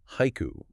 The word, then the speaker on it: haiku: So, take the English word haiku. That's two syllables, but in Japanese, it's three morae. Haiku.